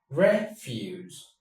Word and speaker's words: refuse: Refuse. And then the verb is refuse. Refuse. Refuse. Don't refuse my rashay. Have it. on, have it. Have it. Don't refuse. Refuse. For the noun, it's refuse. Refuse.